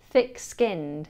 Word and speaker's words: thick-skinned: The TH here should see the tongue placed between the teeth. Thick, thick, thick-skinned.